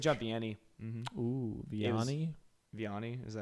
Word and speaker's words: Vianney: Vianney, is that how you pronounce it?